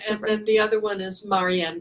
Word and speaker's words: Marien: the other one is Mary Anne grace you know my name it's which is spelled like Marie and there right so so how